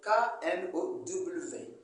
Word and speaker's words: know: Mais le nom que nous voyons s'écrit avec K-N-O-W. K-N-O-W. Mais on ne prononce pas I don't know. Donc, le K est silencieux.